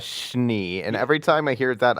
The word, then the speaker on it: Schnee: They pronounce her name in the show as Schnee, and every time I hear that, I only think of 2 things.